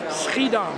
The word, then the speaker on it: Schiedam: At least that's in you pronounce it right, Schiedam.